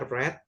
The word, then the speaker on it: read: I read book last Read itu verb duanya red. Jadi bacanya red ya, Teman-teman. Kebetulan untuk kata read atau membaca itu verb 1, verb 2, verb 3-nya sama ya tulisannya sama. Sama tapi bacanya read red red red gitu.